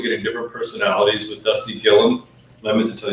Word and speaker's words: Gilliam: You're also getting different personalities with Dusty Gilliam. And I meant to tell you guys, it's Gilliam, not Gilliam, even though it's spelled like William.